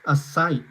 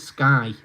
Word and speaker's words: SKE: You always read it as Psych. Well, it's SKE, but they pronounce it Sky for some reason. I've no idea why.